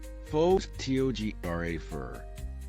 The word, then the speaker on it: photographer: But in photographer, the stress moves to the second syllable, photographer.